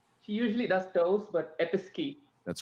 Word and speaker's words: Episkey: please and chandra she usually does those but episkey that's correct smith i'll say it right episky correct all right so six six they both